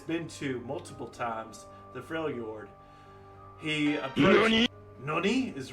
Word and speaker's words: Freljord: for me, PS Zombie, Fjord, I need to pronounce it. Freljord, in the Freljord.